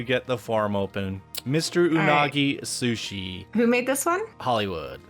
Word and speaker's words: unagi: here welcome to Mr unagi's Sushi shop um you're saying it wrong unagi they go oh my